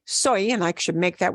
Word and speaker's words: soy: the word I okay soy that looks like soy sauce and it's pronounced the same way as soy sauce soy soy means I